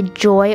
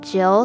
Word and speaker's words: Jill: hard to grasp and my coach says my name wrong in the past lesson all the time so like he'll say joy or or instead of jill so this time he